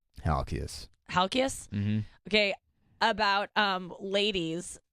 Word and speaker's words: Halkias: advice how do you say his last name halkias halkias mm-hmm okay about ladies like he's like